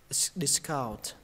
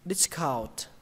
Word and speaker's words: discount: Cái chỗ này các bạn có hai cách đọc. Một là lên giọng âm đầu tiên, hai là lên giọng âm thứ hai, cái nào cũng được. Một là discount, discount, hai là discount. Các bạn đọc như thế người ta vẫn hiểu.